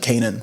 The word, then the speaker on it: Kanaan: Oh, my name is actually Kanan. So, I was like Cain and Abel. Like, it just like phonetically sounds like my name, right?